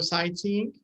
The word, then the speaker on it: sightseeing: IGH silent. Yes. GHG. Sightseeing. GH in English is usually silent.